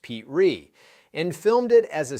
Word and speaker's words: Petrie: He starred in the pilot himself, playing Rob Petrie, pronounced Pete Ree, and filmed it as a single camera show in New York with no live audience.